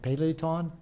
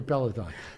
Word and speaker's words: Peloton: He said, well, I've got my, how do you say it, Peloton? His bicycle? Peloton, yeah.